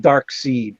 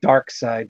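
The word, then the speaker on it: Darkseid: around here okay and I'll pronounce it dark seed so sue me I'm not gonna take dark side dark-sided not the correct we could pronounce it yeah mutt says it wrong - it's okay remember a final crisis they had like the dark side Club spelled Si de so that would suggest that that's the pronunciation well we got Flair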